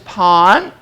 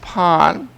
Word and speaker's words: pain: word in French is pon pon um which is spelled like pain p-a-i-n but it's pronounced Pawn but anyway whether or